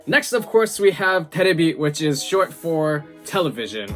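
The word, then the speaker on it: テレビ: And I knew that was wrong, but it kept coming out because terebi is TV in Japanese, but my brain was just wrong and I would say televi.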